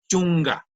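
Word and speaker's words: chunka: y me está preguntando cómo se pronuncia 10 se pronuncia yunga aunque se escribe y eso lo que habíamos dicho que reemplaza a la g entonces la pronunciación es chunga y luego llegamos al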